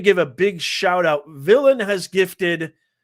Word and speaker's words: Villain: 1 if it's pronounced VN or a 2 if it's pronounced villain. Give me a 1 VN if it's with the L's are silent. Give me a 2 if it's villain, please.